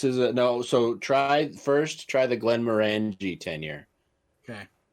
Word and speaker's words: Glenmorangie: So try the Glenmorangie 10-year. Okay. It's spelled like you say it. Yes, exactly. Glenmorangie. Yeah, Glenmorangie. Morangie. Give me some There's of an that IE at the end.